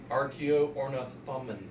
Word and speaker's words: Archaeornithomimus: It's pronounced Archaeornithomimus.